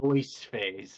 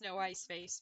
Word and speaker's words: no ice face: ice face I mean you could pronounce this noise yeah know I saw that as noise face and I was like technically it's no ice face but yeah well there